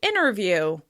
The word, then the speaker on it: interview: "Interview" often turns into "innerview, innerview."